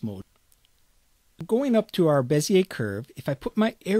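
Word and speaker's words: Bézier: And I looked up the pronunciation of Bezier, and the general consensus on the internet was to pronounce it Bezier, so I'm going to call this a Bezier curve.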